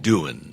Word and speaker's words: Doohan: He pronounces it doing. Doing. Yeah. It's like, he says, what are you doing?